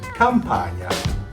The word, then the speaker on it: Campagna: The GN sounds a little hard for America, but Italians pronounce it gnocchi. Just like you say lasagna, or my last name, Campagna.